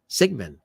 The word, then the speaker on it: Siegmann: Siegmann.